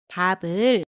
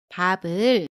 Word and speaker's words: 밥을: Quando seguidas por vogal, piup tem som de B e piup mantém o som original. 밥을, 밥을, Quando a próxima letra